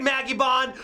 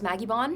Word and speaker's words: Magibon: That was Maggie Bond? Maggie Bond. Is it pronounced Magibon or Magibon? I always pronounce it Magibon.